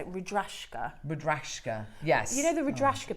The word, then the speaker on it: Rudraksha: Rudrashka, yes.